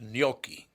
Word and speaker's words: gnocchi: gnocchi, which is I guess is wrong. It's gnocchi. Gnocchi. Okay. Gnocchi.